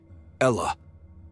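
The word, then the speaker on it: الله: In Arabic, the word Allah is pronounced as Ella.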